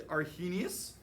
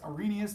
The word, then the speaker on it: Arrhenius: And we know that the earliest definition was the Argenius. So I'm going to write that up here, Argenius. Or it's Arrhenius because his H is silent.